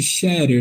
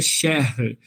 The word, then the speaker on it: Scherer: em Maringá, que aliás a gente se habituou a chamar de Scherer, né? Mas na verdade é Scherer, a pronúncia correta.